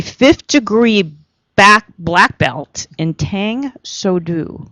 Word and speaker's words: Tang Soo Do: He is a 5th degree black belt in Tang Soo Do, right? Is that how you pronounce it? Tang Soo Do, yeah.